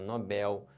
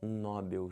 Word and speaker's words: Nobel: da Paz um prêmio Nobel em química e não um prêmio Nobel se você falar Nobel ferrou tudo errou tudo aí